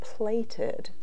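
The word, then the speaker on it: plaited: this one here is it's called plated and that's how it's pronounced we would say pleated but in the instructions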